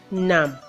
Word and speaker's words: numb: end of each Radha's silence so they are pronounced as comb crumb done numb I know that interesting wanna spell to see